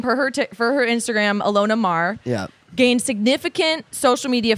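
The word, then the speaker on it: Maher: Deck four American rugby player Alona Mahar she pronounces her name for her for her Instagram Alona marah yeah gained significant social media followers during the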